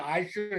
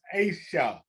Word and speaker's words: Asha: I used to call Asha, Aisha, and all those other things. But she finally corrected me one day and said, Mr. Haversham, it's Asha.